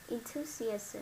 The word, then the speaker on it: enthusiasm: Enthusiasm, Enthusiasm. Okay. enthusiasm, Enthusiasm. Let's stress. Second syllable is say enthusiasm.